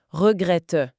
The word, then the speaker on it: regrette: En français, quand un mot se termine par un e sans accent, il est presque toujours silencieux.